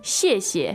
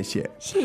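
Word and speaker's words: 谢谢: 对 You say 谢谢，谢谢. 谢谢。 And it's the first part is fourth tone, the second part is neutral.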